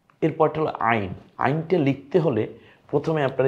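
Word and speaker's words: عين: তো প্রথম অক্ষরটার নাম হলো আইন। কণ্ঠনালীতে চাপ দিয়ে, ওই যে হা পড়েছিলাম না যেভাবে, হা জিম খ, ওই কারণে। তো ওই হা এবং আইন এই দুইটা গলায় চাপ দিয়ে আমরা পরে আরও বেশি জানতে পারবো।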